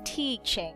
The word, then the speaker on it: teaching: right of course we so we have to say teaching teach teach is a long e sound teach i have been teaching for nine years i have been teaching for nine years so you have to emphasize on that we cannot say i've been teaching i have been teaching it's not a lot it is not a short i sound just to remind you